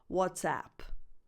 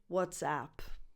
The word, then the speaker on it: WhatsApp: But if you're listening or talking to a non-Italian speaker, it's important to distinguish between the question, the expression, what's up, and the name of the app, WhatsApp.